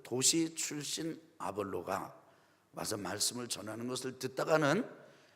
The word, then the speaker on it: 아볼로: 그런데 그 지역에서 말씀을 전하던 아볼로라고 하는 사람의 설교를 듣게 됩니다. 한번 따라합시다. 아볼로. 영어 발음은 아폴로입니다.